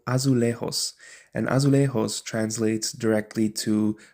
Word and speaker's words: azulejos: Specifically, excuse me if I'm not pronouncing this right, but I'm going to say this in the Spanish pronunciation. It's called azulejos.